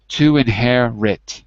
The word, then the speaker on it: inherit: to inherit you can put the RIT as the last syllable to inherit to inherit to so you would say it like this to win hair RIT to win hairit to